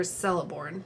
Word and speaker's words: Celeborn: Do you think that's Celeborn or Celeborn?